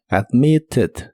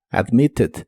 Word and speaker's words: admitted: pasado en este caso esa Ed se pronuncia como Ed admitted admitted si te preguntas por